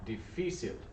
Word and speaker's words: difícil: Because, first thing to remember, S sound, because it's followed by an E or an I. And then accent mark, difícil.